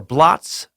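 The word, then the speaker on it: blót: There are feast days or bloats, pronounced like bloat. It comes from the same root as bless. Okay, it's B-L-O-T-S, pronounced as bloat.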